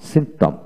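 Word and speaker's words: symptom: তারপর আসেন সিমটম, সিমটম, এস ওয়াই এম পি টি ও এম, সিমটম, সিমটম। পি উচ্চারিত হবে না এখানে।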